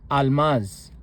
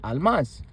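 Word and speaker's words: አልማዝ: For example, the word for diamond is almas. Almaz. It is pronounced as almas. The L is sixth order but the but only an L sound is pronounced without any vowel attached to it.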